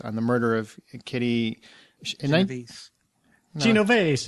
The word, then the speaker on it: Genovese: Acts of Violence is a novel being adapted into a film based on the murder of Kitty Genovese. No, Genovese. I think the S is silent, but whatever.